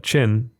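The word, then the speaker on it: Qin: Got a sort of classic version and one that that Bitewing have done and that's Chin Q Q I N for those that pronunciation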